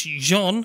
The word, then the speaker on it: Jean: Well, I wrote down Sean originally. Sean. Because I thought it was Sean. I thought they kept saying Sean. It's Jean. Is it Jean, is it?